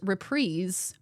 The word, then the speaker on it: reprise: I mispronounced reprise is reprise apparently is pronounced repreeze.